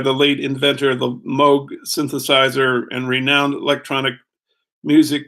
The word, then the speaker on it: Moog: It's spelled M-O-O-G, but it's pronounced Moog, I think.